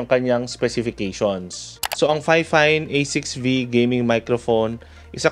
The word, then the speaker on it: Fifine: So yung iba ang tawag nila dito Fifine, but per Fifine, ang tamang pronunciation daw ng kanilang company is Fifine.